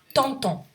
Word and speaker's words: t'entends: To say you get along, tu t'entends. And you see the verb takes an S, but you don't pronounce it.